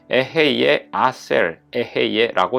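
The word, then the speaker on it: אהיה אשר אהיה: 이름을 모세에게 나타내실 때 문장을 히브리어로 읽으면 에헤이에 아셀 에헤이에라고 읽을 수 있습니다.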